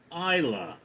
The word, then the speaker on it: Isla: Also in Spanish, it's pronounced how it's spelled, but her name is pronounced Isa.